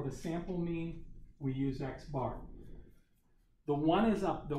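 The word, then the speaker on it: x̄: X with a bar over top this is pronounced X bar okay so that's the sample mean there's our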